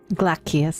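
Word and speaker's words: Glacies: Glacius, that's how you pronounce it.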